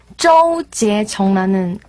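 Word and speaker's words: 周洁琼: 이 주결경 어떻게 발음해야 되나요? 그 사실 주결경도 제 그냥 중국 이름에서 네. 중국어로 하면 되게 조제정라는 이름이 조제정 조제정 네 아.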